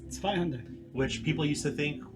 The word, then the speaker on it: Zweihander: And here's how she pronounces it: Zweihander, like that. So Zweihander? yeah, so she pronounces it correctly. Everybody else in the company is like Zweilander, Zweihander.